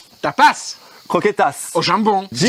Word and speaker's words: croquetas: tapasse croquetass au jambon jingle salut à tous salut à tous salut l aujourd'hui le mot tapasse va rimer avec croquetass j'ai mal prononcé c'est croquetass voilà au jambon de